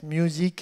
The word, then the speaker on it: Muzeek: Ça s'appelle Get Music. Alors, music, ça s'écrit M-U-Z-E-E-K.